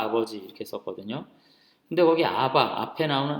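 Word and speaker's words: אבא: 근데 거기 아바 앞에 나오는 아빠라는 말은 아람어 아바예요. 우리말 아빠랑 똑같아요. 발음이.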